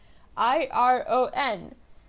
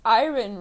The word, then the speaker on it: iron: than just regular iron iro n so you an argument is pronounced ayran right but it's not you yo you have to say it as iron so it's like I yearn a year for the